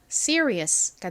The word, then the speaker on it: serious: serious가 됩니다. serious.이 이 r은 뒤에 몸이 오면 이게 한국식으로는 리라고 표기를 하지만 실제 발음은 입을 좀 동그리면서 발음을 하거든요. 그래서 가깝게 발음이 돼요.